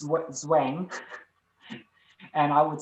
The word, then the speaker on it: Zwang: but i know that english people have trouble saying that that very harsh z sound you you would say it's zwang and i would say